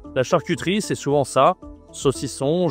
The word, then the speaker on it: saucisson: OK, le saucisson prononciation toujours le nasal qu'on voit partout, hein. Le saucisson.